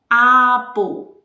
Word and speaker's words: able: The pronunciation is able, able, like this one here. This is a football. That's the sound of that suffix.